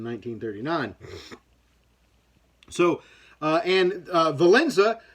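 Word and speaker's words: Wałęsa: uh and uh valenza whose name is spelt really weird by the way it's spelt w-a-l-e-s-a which i don't know where they get the n sound i understand that the w makes a v sound in that country but i don't understand where you get a an n sound for valenza um similar to and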